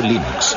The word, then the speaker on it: Linux: Cómo se pronuncia Linux Bueno yo Linux lo pronuncio Linux sin embargo si fuese Lin thoral no hay